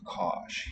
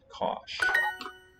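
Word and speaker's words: cáis: is clearly learned english breakfast pronounced cosh here the letter i we say pal girl palatalizes or slenderizes the s changes from massage with sha cosh no you eat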